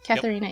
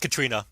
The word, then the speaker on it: Catharina: no that's right okay catharina rivers not Katrina if you say Katrina